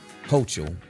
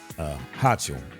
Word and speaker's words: Hochul: Governor Kathy Hochul, I guess that's how you pronounce her name, H-O-C. Hochul, I guess it's Hochul.